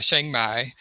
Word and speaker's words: Chiang Mai: And I've been to Chiang Mai, or that's how I was told to pronounce it.